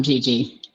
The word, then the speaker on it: Gigi: Did I pronounce that right, Valerie? Yes, Gigi? you did. You did. I'm Gigi.